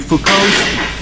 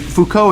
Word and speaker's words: Foucault: but I'm telling you Foucault and Foucault is spelled fo you see a ult I think it rightly to cease but you don't pronounce the T because it's French much to his right